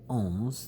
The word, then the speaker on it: ohm: small they are let's call this guy 30 ohms that little Omega symbol capital Omega is pronounced ohm Oh hm in physics let's make